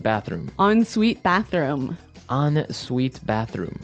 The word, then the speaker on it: ensuite: ensuite bathroom ensuite bathroom on sweet bathroom right another note on the spelling here it's e n right hyphen s-u-i-t-e so even though it's e-n we pronounce it like an o-n yep ensuite so an